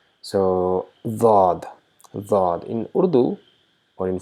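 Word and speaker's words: ضاد: But in Arabic, the side of the blades touches the tongue, and we try to pronounce D with slight buzzing sound of Z, which is often unnoticed.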